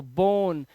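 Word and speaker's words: bone: spelling बोन ही होगी लेकिन आपको ई को पढ़ना नहीं है क्योंकि लास्ट में य होता है उसका उच्चारण नहीं करते तो बोन लेकिन इस रूल के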